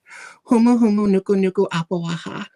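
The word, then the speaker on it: humuhumunukunukuāpuaʻa: Humu humu nuku nuku apawaha.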